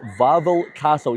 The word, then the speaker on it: Wawel Castle: So we're currently in the courtyard of Wawel Castle. Yes, I was pronouncing it Wawel the whole time, but I forgot that in Polish the W sounds like a V, so it's actually Wawel Castle.